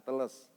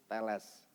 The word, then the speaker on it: Aristoteles: melahirkan Aristoteles gitu ya bukan Teles Tapi telles bacanya Ya nah bapak ibu